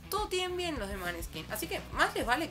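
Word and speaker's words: Måneskin: El nombre del grupo, Maneskin, pronunciado en danés, eso. This is Maneskin.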